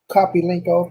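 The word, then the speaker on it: Kopylenko: Kopelenko, that's how you pronounce his name.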